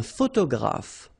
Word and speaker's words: photographe: Un photographe. So here ph and here ph. Pronounce it like f, f, f, f.